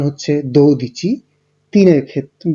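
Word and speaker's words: dodici: 12-এর ক্ষেত্রে উচ্চারণ হচ্ছে দো দিচি, 3-এর ক্ষেত্রে বা 13-র ক্ষেত্রে ত্রে দিচি, 14-র ক্ষেত্রে কোয়াত্তোর দিচি, 15-র ক্ষেত্রে কুইন দিচি এবং 16-র ক্ষেত্রে সেই দিচি।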